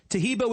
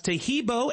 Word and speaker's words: Taheebo: Taheebo is spelled T like Tom, A-H-E-E-B like boy. Oh, that's Taheebo, and then continue with the word tea and then the word club.